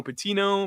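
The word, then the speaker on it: Pattigno: find me at Tino patino p a t TI I GN o the g is silent like Real G's and lasagna there so you can find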